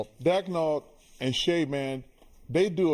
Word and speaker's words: Daigneault: So, coach Daniel Daniel, is that how you say it? Daigneault. Daigneault and Shay, man, they do a good job.